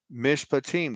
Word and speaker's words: Mishpatim: Mishpatim, what I wrote there in the comment section, Mishpatim, that's how you pronounce it. That's how you enunciate it.